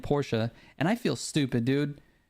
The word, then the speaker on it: Porsche: my own thing here I always said Porsche because that's how it's pronounced here everyone here says Porsche but then our friend Teeter got upset that I was saying Porsche and he's like no it's Porsche and then I don't